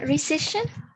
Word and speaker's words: recession: you see it again recession isn't yes the c sounds like an s so also keep that in mind it's not always the k sound it's also the sound okay the recession ari yes